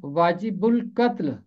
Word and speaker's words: واجب القتل: 9 دفعہ آیا ہے۔ اس کا تلفظ ہے واجب القتل۔ واجب القتل، بے ملے گا لام کے ساتھ، اور آگے ہے قتل، واجب القتل۔ اور تم اس قاتل